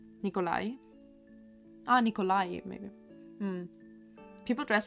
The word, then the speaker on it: Nikolai: it's literally the a the stress on the last day so St Nikolai like this Nikolai ah Nikolai maybe people